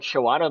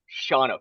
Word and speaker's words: Shawano: you can't pronounce hmm I went up and I was like shawanna they're like no Shawna do not say she